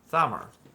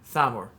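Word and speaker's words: Thamur: accepts his fate thummer i was mispronouncing it during the let's play i kept thinking it was a it was a solid t um sometimes th's are pronounced as solitudes but this one's a traditional th the yeah the the little d with the little loop that's a th sound yeah thymor uh the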